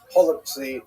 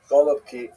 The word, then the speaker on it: holubtsi: Holubtsi, right? Some people would say with the German, with the Russian pronunciation, golubki, which is cabbage rolls, right?